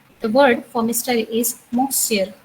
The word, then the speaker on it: monsieur: is monsieur. I repeat again, monsieur. It is also a nasal sound.